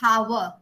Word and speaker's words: hour: Ma'am, in our it's N because the H is silent. Silent. Yes, ma'am, it is silent. Yeah. So when we are going to our, we don't pronounce at hour.